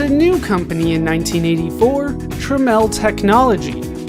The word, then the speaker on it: Tramiel: Jack Tramiel would found a new company in 1984, Tramiel Technology. This new company was spelled differently to try to get people to pronounce Tramiel's last name properly.